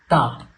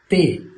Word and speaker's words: ت: to the next letter Ta. Let's first understand some basics about the letter Ta. We should not read it as Te, which is common in Urdu accent.